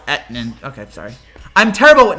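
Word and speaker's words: Etienne: be that guy but travis last name is pronounced aetnan okay sorry i'm terrible with names it's so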